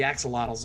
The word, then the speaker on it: axolotl: The axolotls are, in fact, axolotls. Axolotls? I don't know how to pronounce that word.